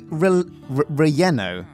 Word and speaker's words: relleno: So I guess in the Spanish language, when you're talking about dishes, anything that's a double L is more like a Y.